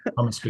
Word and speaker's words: Comeskey: heard you speak recently, it's Comeskey in your part of the land. It would be Comeskey. Yeah, how do the Irish people say my name? Comeskey. Yeah, I was doing the Irish pronunciation. Yeah. Comeskey works. I know who you mean. Comeskey is how I hear it most often in the States.